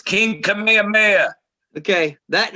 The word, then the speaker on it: Kamehameha: 1819 well here do you guys want to pronounce that what's uh right there is it come on it's kamehameha yeah it's king kamehameha okay that name who died in 1819 has